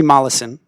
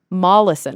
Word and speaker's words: Molaison: his name was actually Henry how do you pronounce his last name again Henry Mollison Mollison okay it looks like Meson Henry molison um